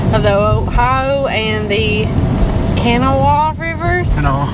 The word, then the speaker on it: Kanawha: It is at the confluence of the Ohio and the Kanawha rivers. Kanawha.